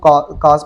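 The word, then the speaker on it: cos: और कोज क्या होती हैं, वैसे तो स्पेलिंग COWS होते हैं, लेकिन इसको काज पढ़ते हैं, लेकिन मैं इसको पढ़ूंगा कोज।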